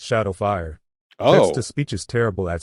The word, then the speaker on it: XSH4D0WF1: Just wanted to say, it's pronounced Shadowfire.